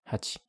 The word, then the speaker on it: 八: For pronunciation, the Middle Chinese ancestor of most modern pronunciations was bet. This becomes ba in Chinese, hachi in Japanese, and pal in Korean.